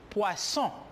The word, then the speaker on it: poisson: Le double S, la doble S, se pronuncia como si fuera una S en espagnol. Por lo tanto, je dis poisson.